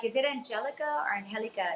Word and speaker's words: Angelica: Yeah, they're like, is it Angelica or Angelica? It's Angelica.